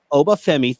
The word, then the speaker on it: Oba Femi: How do you pronounce his name? Oba Femi. Oba Femi, thank you, and Julia, your new your new champions.